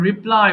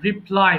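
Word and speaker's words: reply: এরপর রিপ্লাই, উত্তর দেওয়া। রিপ্লে নয়, রিপ্লাই মানে উত্তর দেওয়া।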